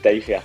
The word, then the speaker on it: Taillefer: il y en a, ils le prononcent bizarrement, mais c'est Taillefer, quoi.